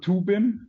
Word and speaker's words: TUBIN: it do so let's let's try to go with two bin that's a little bit the german pronunciation but it to t